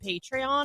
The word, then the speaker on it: Patreon: there's because there's another platform out there called patreon or something like that patreon okay whatever spelled weird it's not spelled like Patron but anyhow um so there's those